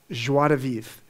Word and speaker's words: Joie de Vivre: And so my purpose was defined by the name of my company, Joie de Vivre. You pronounced it very well, Greg.